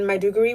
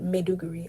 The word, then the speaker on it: Maiduguri: she was back in Maiduguri which is in Nigeria I'm pronouncing it incorrectly she said madhugiri okay so when she was in may degree in Nigeria she said